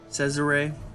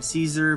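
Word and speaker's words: Cesare: Adam says array in this how you say his name says array I've been saying it wrong and he goes he says it's okay for you guys or everyone for everyone to call him Adam Cesar but I want to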